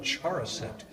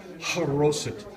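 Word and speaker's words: charoset: see on the recipes and whoops Lincoln spilled chara scent but it's actually pronounced corrosive over here you've got your pita bread and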